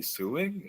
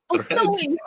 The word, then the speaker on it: sewing: Are you Are you suing? Are are you suing your clothes? Sewing. Sewing. Sewing. There you go. That's how you pronounce it.